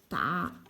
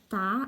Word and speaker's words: 打: This is a polyphone. It can be pronounced as da or da according to different contexts.